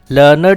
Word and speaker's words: learned: Learned should be written as learned. Learned has 2 syllables.